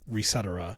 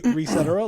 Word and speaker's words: Resetera: There is no correct pronunciation of that word, people. It's you can say Resetera like etc., or you can say I always pronounce it NeoGAF. No. Yes, or you could say reset era like reset era.